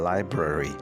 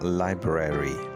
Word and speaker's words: library: अगर हम इसे ब्रिटिश तरीके से प्रोनाउंस करेंगे तो इसका तलफ़्फ़ुज़ होगा library, और अगर हम इसका तलफ़्फ़ुज़ अमेरिकन स्टाइल में करेंगे तो होगा लाइब्रेरी, यानी लाइब्रेरी और लाइब्रेरी।